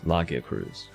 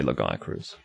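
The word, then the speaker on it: Lagiacrus: ragia kudus so basically that's lakia cruz that's how it is and i think it is the sensible thing to do to try and have the english pronunciation correspond with the japanese pronunciation yeah a lot of people say lagaya cruz that's kind of normal wow interesting text i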